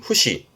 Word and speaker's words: 節: 그리고 훈독으로 보게 되면 발음은 후시 후시 말 그대로 마디를 말하는 부분인데요.이 이 후이라는 건 요렇게 쓰이기도 합니다.